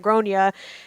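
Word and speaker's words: Gráinne: And so she's like, I try to be tactful, and said Irish is kind of like a tricky alphabet. Around here, we pronounce that Gronya.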